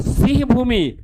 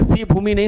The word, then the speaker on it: सिंहभूम: और खेतड़ी याद रखना, खेतड़ी राजस्थान में है, और सिंहभूमि कहां पर है? झारखंड में। सिंहभूमि नहीं, सॉरी, सिंहभूम, बार बार प्रोनाउंसिएशन में कर रहे थे हम, सिंहभूमि, सिंहभूम, जगह का नाम है सिंहभूम, ठीक है।